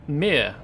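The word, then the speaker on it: Myr: blade here but the general shape still says mir to me which is spelled m y r basically like robotic servitors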